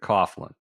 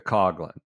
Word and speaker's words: Coughlin: to Tom no because he's pronounces it Coughlin I think she goes with the coglin should be could be